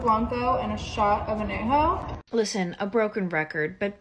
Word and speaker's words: añejo: least you can do is learn how to pronounce the tequilas correctly. Blanco, reposado, añejo. What the fuck is añejo? It's añejo, puñetas.